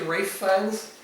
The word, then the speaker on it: Ralph Fiennes: I think it's Swedish, but it's pronounced Gyllenhaal for anyone who wants to pronounce it right. Kind of like how Ralph Fiennes is actually Rafe Fiennes.